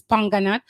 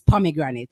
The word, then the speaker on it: pomegranate: So put some words that Jamaicans say it wrong, where and for instance it's panganut, but the correct word is pomegranate.